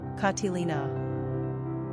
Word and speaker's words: Catalina: pronunciation katilina simple meaning pure one innocent characteristics of Catalina